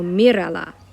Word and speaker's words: mírala: When I do that, remember emphasis usually goes on the next to last syllable. If we change that by adding something to the word, we're going to need an accent. So I am going to put an accent on what used to be the next to last syllable. So mírala.